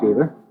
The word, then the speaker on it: Cheever: Cheever, and I pronounced that correctly, right?